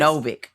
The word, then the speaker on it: Novik: This week, we are talking about plot for our book for the month, which is Spinning Silver by Naomi Novik. Did I say it right? Close. Novik.